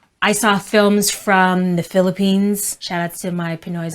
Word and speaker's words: Philippines: Moving on to another country, that is the Philippines. Yeah, don't say the Philippines because that's not correct. So we need to say Philippines.